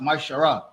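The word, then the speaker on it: מעשר: Malachi 3 verse 8-10 it means 10th in Hebrew and it's pronounced myar 10% of every penny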